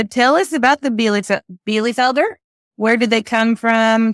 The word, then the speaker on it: Bielefelder: that how you say it Bea Felder yes be Felder you always have these chickens with the hard to pronounce names I like a challenge we got